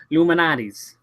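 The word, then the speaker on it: Lou Malnati's: Luminati's Pizza. Is that right? Luminati's. Yeah. Like Illuminati. Luminati's. But to say it the Chicago way, it's one word. Luminati's. Luminati's. Yeah. All right. So, we went to Luminati's for some good old-fashioned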